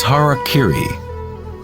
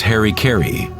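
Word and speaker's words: hara-kiri: suicide or seppuku was harakiri was often mispronounced as Harry Caray it means to impale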